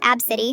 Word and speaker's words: ABCDE: ABCDE, pronounced Abcity, exclamation mark Xander, the exclamation point is part of it, and Keemnop, pronounced Noel, get it, no L.